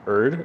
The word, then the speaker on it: Erd: This is a comment from Josh Zuckerman Erd, I believe. Yeah. Is how you pronounce his last name.